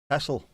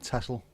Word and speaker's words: Texel: Not Texel. It's archaic Dutch before you start to pronounce the X as KS.